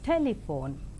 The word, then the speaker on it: telephone: few more examples like in the three syllable word telephone the first syllable is more prominent that is telephone in five syllable word